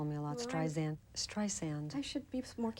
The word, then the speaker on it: Streisand: I learned a lot do you mind if I correct your pronunciation of my name please strand I'm sorry so many people do that and I always wonder am I really famous you know how could they say strend or if or xand